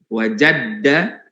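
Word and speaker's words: وجدّ: Wa qad qila, dan sungguh dikatakan, man talaba syai'an wajadda wajada. Bacanya gitu ya. Man talaba syai'an wajadda wajada. Yang kedua, jadanya enggak pakai, wajadanya enggak pakai tasdid, tapi yang pertama pakai tasdid.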